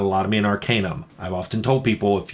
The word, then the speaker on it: Arcanum: I always pronounced Arcanum, but it's Arcanum.